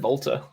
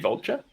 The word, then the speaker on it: Vultr: I think you said Volta. Yeah. Volter, nice. There's no. Oh, that was meant to be Vulture. It's VULTR.